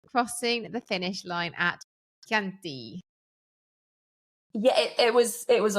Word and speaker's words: Chianti: Kanti. Kant. I say Chanti. Kanti. Kanti.